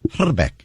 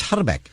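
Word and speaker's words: Hrbek: little bit of check and the actual correct pronunciation of his name is herbeck got to roll the eye herck okay and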